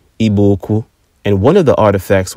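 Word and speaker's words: Igbo-Ukwu: artifacts in eastern Nigeria at a site called IBO uku properly pronounced ibuku and one of the artifacts was a distinct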